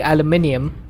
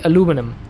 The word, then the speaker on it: aluminum: See, my brain always wants to say aluminium because that's the way I've been brought up. But in this game, it's specifically aluminum. So I have to say it correctly according to the game.